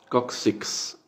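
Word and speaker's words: coccyx: en inglés médico sí que se pronuncia cóccix kuksiks o que terminan con x es distinto como decimos nosotros en español nosotros en español decimos kocsis ellos en inglés dicen kuksiks con x al final kuksiks kuksiks entonces también como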